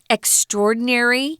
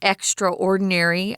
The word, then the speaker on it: extraordinary: So if you're talking about something that's extraordinary, you'll sometimes hear people pronounce this word extraordinary. I don't say that. I put the words together.